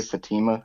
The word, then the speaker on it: Fatima: I pronounce that uh we usually say Fatima Fatima Fatima I mean I don't